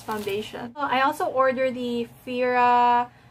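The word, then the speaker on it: Phoera: I also order the Fira it's spelled like this pH o e ra and I choose to read it as Veera just because like Phoebe we're a Fira okay so this is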